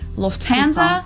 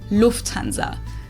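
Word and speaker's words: Lufthansa: flown with them before in English people usually say Lanza but in German we say Lanza so the emphasis on the first syllable Lanza versus Lanza American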